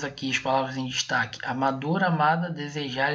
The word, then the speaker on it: amador: poder falar Tá ok se você falar amador você vai observar que a palavra mais o sílaba mais forte de amador é a dor pode ver